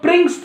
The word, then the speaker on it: Pringsheim: तो home task बनाइए और प्रिंग्स, इसको बोलते हैं हम लोग प्रिंग्स theorem, प्रिंग्स, okay, pronunciate बढ़िया से करना है, प्रिंग्स theorem, PRINGSHEIMS, प्रिंग्स theorem.